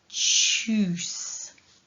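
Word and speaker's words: Tschüss: the ooh sound from the u with the uml so all together it is choose and there's a longer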